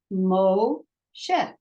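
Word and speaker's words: משה: One vowel, one syllable. Moshe.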